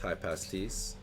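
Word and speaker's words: Hypaspist: It is pronounced high pasties.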